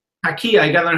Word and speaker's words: Taqiyya: I love that people can't get over the, how do you say, Tariqa or? Taqiyya. Taqiyya.